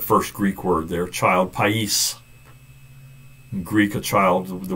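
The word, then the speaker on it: παῖς: "Child," that's that first Greek word there, child, pais.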